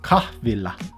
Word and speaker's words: kahvila: Kahvilla. Mm-hmm. Kahvilla. No, because I'm doing double L there, aren't I?